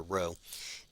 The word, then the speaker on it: rho: This is the Greek letter rho, and it's spelled R-H-O, and it's like the R in Greek.